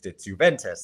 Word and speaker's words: Juventus: No, it's Juventus. Like, so I'd be like, oh, Juventus. Like, I would always pronounce, like, I would say Joaquin Phoenix when